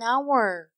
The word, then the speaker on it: hour: I say it here an hour.